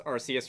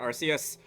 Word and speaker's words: Arceus: pronounce it Arceus, and the pun itself is like Arc, as in highest, as in like the god Pokemon. But, I think that sounds lame, and I'm just gonna keep calling it Arceus.